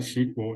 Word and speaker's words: SQL: for structured query language it's pronounced like sequel and it's commonly used